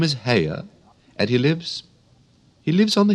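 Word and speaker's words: Haigha: His name is Hare." He pronounced it so as to rhyme with mare.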